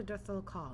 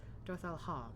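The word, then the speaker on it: Dotharl Khaa: Let us go to Dorthal Ka and treat with their Hatun. I keep forgetting the K isn't pronounced. Dorthal Ha, and treat with their Hatun Sadu.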